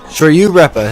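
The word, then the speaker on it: Shoryu-Reppa: uh the super combo sh you repa yeah sh you repa hey that's actually how you say it which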